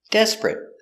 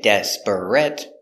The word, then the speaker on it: desperate: sick very good example desperate we don't say desperate we push them together desperate desperate you need something very